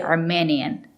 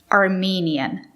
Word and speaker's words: Armenian: n Armenian Armenian Armenian it's not correct to say Armenian you have to use the long e Armenian the country is Armenia